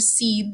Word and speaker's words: cede: seve okay or in english we might say seed now this isn't the kind of seed that grows into a plant this is a word